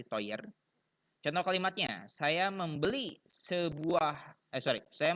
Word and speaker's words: teuer: Nah, kata sifatnya contohnya mahal yaitu teuer ya, bacanya teuer. EU dibaca oi, jadi teuer.